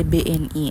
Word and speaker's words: BNI: Berbeda dengan tadi pengucapannya nih stud. Kalau tadi kan contohnya ada lipi itu di ee bacanya tuh langsung gitu lipi enggak diper huruf. Kalau ini pembacaannya per huruf ee tapi penulisannya sama stadimis dengan huruf kapital tanpa titik.